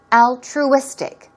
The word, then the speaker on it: altruistic: altruistic here we go stress goes right here let's practice how to pronounce this word three times altruistic altruistic one more time altruistic stress goes there and we're talking about